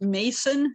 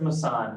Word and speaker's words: Mason: Mindy granley and do you pronounce it Mason or Mason massan is my name massan okay great thank you